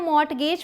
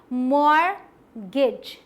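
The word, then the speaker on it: mortgage: आगे बढ़ते हैं, इसे हम मॉर्टगेज पढ़ते हैं, बट ये क्या है पता है आपको, ये है मॉर्गेज। मॉर्गेज बिल्कुल अलग, टी साइलेंट है यहाँ, और वो भी यहाँ गेज नहीं, गिज है, मॉर्गेज।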